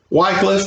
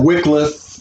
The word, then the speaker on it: Wycliffe: Wycliffe, or Wycliffe, is pronounced by some people. You can take your pick.